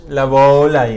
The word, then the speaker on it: Laboulaye: dice que está pronunciado saludos la bula laboulaye al sur de córdoba la volar la bola la bola y es la bola porteño siempre el acento se estira la vocal de la segunda sílaba no la última